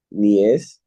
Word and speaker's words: niece: Niece. You mean Nancy, la pesista, Nancy? Nicey. O es que, ¿cómo se pronuncia? Nice. Niese. Niece. Niece. Niece. Excellent. No E, las I no tienen sonido aquí, ¿no?